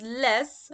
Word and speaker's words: les: We know if it's les, okay, but obviously we don't pronounce the S on the end.